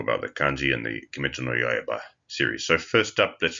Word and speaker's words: 鬼: The native Japanese is oni.